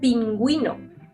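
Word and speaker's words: pingüino: say you say guitara when we pronunciate the you we need to mark it with that two dots in the top of the letter pinguino for example pinguino notice the difference pinguino so to Summer you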